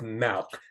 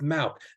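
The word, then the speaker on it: Mauch: where it was and yes it's mouth that's how you say his name how do we know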